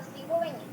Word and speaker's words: cigüeña: También se escriben con diéresis la U intermedia y tiene sonido, como por ejemplo cigüeña.